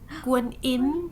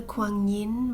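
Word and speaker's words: Guanyin: Ooh, Guan Yin, that's what we call it here, or Mother Kuan Yin, more of the Western pronunciation.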